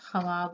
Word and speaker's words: ख्वाब: यहाँ देखें ख्वाब, यहाँ पर हम हिज्जा अगर करेंगे तो इसका ख्वाब होगा, लेकिन इसे पढ़ा जाएगा ख्वाब। यहाँ पर वाव साइलेंट हो जाएगा, उसकी आवाज नहीं निकलती है।